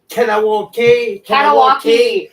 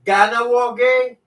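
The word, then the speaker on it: Kahnawake: Because some kid was saying, well, not kid, Simone was like, Kanawaki. And I'm like, yo, okay, we're just gonna have to do something here. It's Ganawage. Can you please say it properly?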